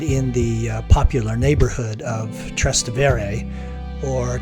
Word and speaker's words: Trastevere: Maria is located in the popular neighborhood of trastevere or trastevere as I've heard it pronounced trustive area is characterized by lots